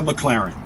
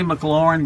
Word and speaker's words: McLaren: I say McLaren, but at the dealership they say McLaren.